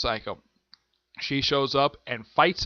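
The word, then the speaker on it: Saiko: called this weather gets not spelled psycho but it's pronounced psycho she shows up and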